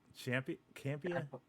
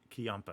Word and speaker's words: Ciampa: Campia? Ciampa. Man, where's that sound? Where's that soundboard? Oh, every time I butcher somebody's name. All right. We got That'll work. we got Tommaso Ciampa.